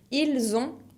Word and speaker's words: ils ont: Ils ont ou elles ont, con la T final que no se pronuncia.